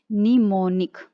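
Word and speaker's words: mnemonic: पढ़ेंगे तो कैसे पढ़ेंगे, एम को साइलेंट रखिए और पढ़िए निमोनिक।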